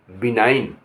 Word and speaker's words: benign: अब जहाँ जी साइलेंट होता है वहाँ क्या होगा? BENIGN वहाँ बिनाइन, बिनाइन। यहाँ जी का साइलेंट होगा।